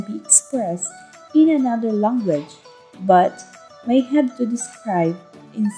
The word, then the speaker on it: bo: The stem word bo, pronounced bu, meaning live or dwell, can have many prefixes, some serious and some playful, like this for example.